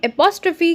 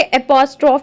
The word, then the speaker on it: apostrophe: हिंदी आचार्य की punctuation marks की series में आज हम एपोस्ट्रोफी के बारे में पढ़ने वाले हैं बच्चों। इसको गलती से एपोस्ट्रोफ भी कह देते हैं, वह उच्चारण सही नहीं है, एपोस्ट्रोफी इसे कहना चाहिए बच्चों।